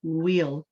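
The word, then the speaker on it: we'll: So instead of saying we will, you want to say wheel. You know, like we say the wheel on the car, the wheel on the bus, the same pronunciation, the wheel.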